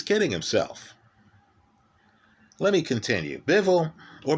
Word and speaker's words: Bivol: example right he's kidding himself let me continue bevel or beavel as it's more accurately pronounced we'll forget the dwyer pronunciation here is